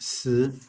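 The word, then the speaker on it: 死: If we look at the word for death, the modern character for death, it is pronounced si.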